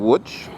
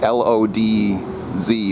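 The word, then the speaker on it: Łódź: was in which and if you look at how the city name is spelled it looks like Lodz LOD Z or Zed at the end so it looks like Lodz or maybe Lodge but no it's it's something like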